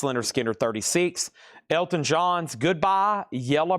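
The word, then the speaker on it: Lynyrd Skynyrd: Leonard Skard Pronounce Leonard Skinner 36.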